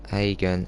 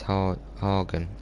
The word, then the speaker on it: Hagen: It's not Hagen, it's Hagen.